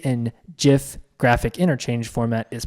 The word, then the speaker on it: GIF: still employed by CompuServe Steve always pronounced it jiff and would correct those who pronounced it with a hard G choosy developers choose jiff